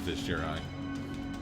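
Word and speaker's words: Vizjerei: I guess it is Vizgerai. I've been pronouncing it correctly all these years.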